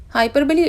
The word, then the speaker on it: Hyperbole: बहुत से लोग इसको हाइपरबोल रीड करते हैं लेकिन एक्चुअल में इसका प्रोनाउंसिएशन है हाइपरबली।